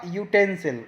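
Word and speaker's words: utensil: यूटेंसिल यानी य, वाई का साउंड आ रहा है इसमें, because यूटेंसिल begin with a consonant sound you, वाई ओ ओ, इस तरह का साउंड निकल रहा है इसको रीड करते समय, इसलिए हमने इसके आगे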